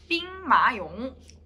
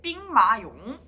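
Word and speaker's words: 兵马俑: 삥마용. 이 발음이 좀 웃긴데. 삥마용.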